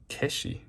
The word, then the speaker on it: 化子: so unique oh no it's not hak it's pronounced kesi I'm not sure what